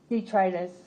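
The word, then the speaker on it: detritus: Detritis. Could you spell that?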